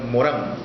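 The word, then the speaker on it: Morin: pensamiento complejo es el señor Edgar Morán, que se escribe Morín.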